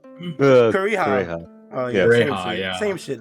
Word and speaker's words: Kureha: He had a formula for it, and then when he died, he gave Kuroha whatever the formula, and then she finished it, and then she set that shit off.